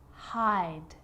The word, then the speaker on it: hide: Hop, hope, sit, sight, hid, hide, slid, slide. So see how the E at the end, although it's not pronounced, is affecting the vowel sound before it. It makes it longer.